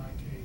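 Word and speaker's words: Anik: another one showing the annex satellite pronounced the enik satellite it uh lost control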